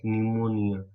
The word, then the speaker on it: pneumonia: P is silent, so you can just pronounce pneumonia.